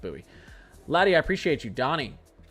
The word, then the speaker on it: Bowie: There's a city in Texas called B O W I E. And I pronounced it Bowie. And apparently it's pronounced Buoie.